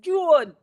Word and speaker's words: June: It's not Joan, it's June.